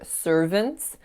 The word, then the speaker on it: servants: And then the final mistake in this section was on the word servants. So you can hear I have the strongest syllable and then vince with a schwa.